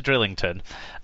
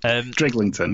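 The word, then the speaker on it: Drighlington: Because I can't pronounce this word. By the way, before we get to Drillington... Driglington, yeah.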